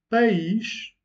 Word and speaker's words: país: Donc, país, c'est un hiatus. País, qui veut dire pays. Pais, c'est une diphtongue, et qui veut dire père au pluriel.